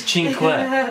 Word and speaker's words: cinque: It's cinque.